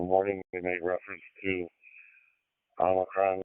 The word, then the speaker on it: Omicron: they made reference to Omicron, which that's the right pronunciation.